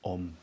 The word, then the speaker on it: Om: um because if you look at the word on phonetically it starts with oh ends with a ma m the m is almost